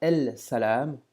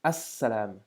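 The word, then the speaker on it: السلام: salam, on va dire as-salam. Qu'est-ce qui se passe? Le lam de l'article n'est plus prononcé et on accentue comme si on avait une shadda sur la première lettre du mot.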